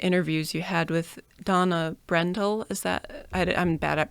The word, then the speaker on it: Brendel: And it reminds me too, in one of the interviews you had with Donna Brendel. Is that, I'm bad at pronunciations. Yeah, Brendel.